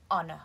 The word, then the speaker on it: honor: to that person's funeral careful you do not pronounce the h in the word honor when we saw thousands